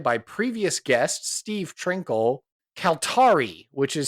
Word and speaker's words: Kaltarii: answer was provided by previous guest Steve Trinkle calari which is spelled Ka a l t a r i i and it's pronounced calar arari that's a very nice name all right indeed